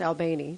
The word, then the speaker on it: Albany: Yeah, it's actually pronounced Albany, John Albany.